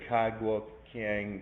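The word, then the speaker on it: Cai Guo-Qiang: different artists and and some people say kai guo kiang some people that say sai guo king is probably more the chinese pronunciation and then you have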